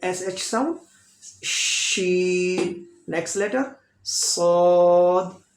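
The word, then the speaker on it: ص: Next letter Saud. Saud fat sound letter भी है और सीटी वाला भी है. Saud is heavy sound letter, fat sound letter and whistle sound like Saud. Make long little. Sod.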